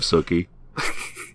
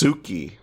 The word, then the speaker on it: Sookie: And then he explodes in the hands of Sookie. Yeah. Also, it's pronounced Suki.